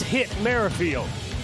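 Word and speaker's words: Whit Merrifield: today they tell us the W is silent it's hit marfield then Andrew benintendi Carlos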